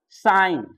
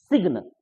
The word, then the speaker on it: sign: तो जी का साइलेंट का पद्धति क्या है, गौर करेंगे तो यहाँ कहता है कि GN, गौर कीजिएगा, साइन, जबकि हम लोग पढ़ते हैं सिग्न, सिग्न बोल देते हैं या